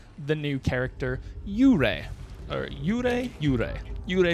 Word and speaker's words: Yurei: Uray is how you pronounce it.